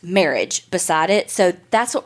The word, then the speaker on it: Merhige: those things called judge and it had like pronounced marriage beside it so that's what we're going to go with because that seemed legit and as soon as I like saw marriage and I saw it read I was like